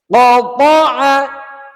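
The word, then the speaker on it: قَطَعَ: Hati-hati di sini jangan cuman qoo, qoo, tapi thoo, thoo. Ada di lidah bagian pangkal atau pangkal lidah. Qoo, qoo, qoo, qoo. Bukan cuman too, too, tapi bulat, kuat. Qoo.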